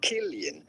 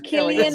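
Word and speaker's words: Cillian: name Jesus Christ yes it is to be pronounced klian okay there we go it is klian Murphy klian not to pronounce c anyway that's that's my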